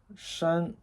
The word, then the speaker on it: 山: Now you know it's pronounced beng. And this is mountain, shan.